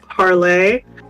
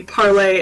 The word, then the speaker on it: Parler: the way it's uh i believe it's actually technically supposed to be pronounced parlay um but that's a whole other rant it is not i don't think that's your spell parlay um but i believe it i believe it is be parlay as in we're going